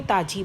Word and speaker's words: तेज़: जैसे ताज़ी, यदि बिंदी नहीं लगाएंगे तो ताजी बन जाएगा, दैट इज़ रॉन्ग। ऐसे कमबख्त, फौजी, यदि बिंदी ना लगाएंगे तो फौजी बन जाएगा, दैट इज़ रॉन्ग प्रोनाउंसिएशन। ऐसे तेज़, तेज नहीं है तेज़।